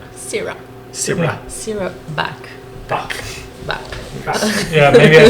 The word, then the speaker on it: Baeck: Back. Yeah, maybe I said the last name wrong. I said Beck. It's It's actually it's back.